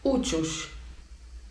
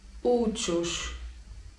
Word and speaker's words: uçuş: Natomiast lot samolotem to uciuś. Uciuś.